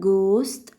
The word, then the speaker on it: ghost: أول صوت هناخده الجي اتش، لما بتيجي في أول الكلمة بنقولها ج ج ج. أول مثال معانا هو ghost ghost ghost يعني شبح، شبح يعني ghost.